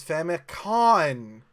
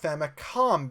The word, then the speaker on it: Famicom: pronunciation of famicom is famicon but in English it's pronounced famicom because it's short for family computer or how about the